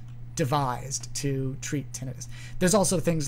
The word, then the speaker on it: tinnitus: um i used to always say tinnitus uh just because because that's what the word looks like but it actually doesn't look that way um probably the more accurate like technically uh linguistically accurate pronunciation of that word is tinnitus tinnitus that suffix is generally associated with an inflammatory process of some kind due to an infection